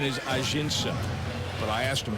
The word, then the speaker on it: Ajinça: And I said, and he tells me today, it's Ajinça. And I said, not Ajinça. And his eyes light up and he says, that's how we pronounce it at home. That's really how you say it. So, folks, it's Ajinça.